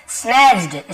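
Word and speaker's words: snatched: स्नैच्ड, स्नैच्ड, यहाँ पर भी टी साइलेंट होता है।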